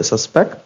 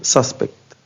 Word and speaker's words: suspect: طيب الكلمة دي لما بتيجي كverb بتتنطق suspect، ولما بتيجي كnoun بمعنى الشخص المشتبه فيه هنقول suspect.